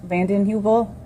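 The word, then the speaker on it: Vanden Heuvel: Uh, please tell us your name and spell it for the record. Danielle Vanden Hubil.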